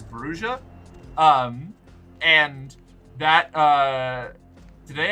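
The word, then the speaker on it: Brujah: Um, I originally thought it was Bruya. Then I thought it was Bruha because I assumed Spanish and is technically correct. But apparently the first edition Vampire the Masquerade book explains that uh the pronunciation in universe is Brua.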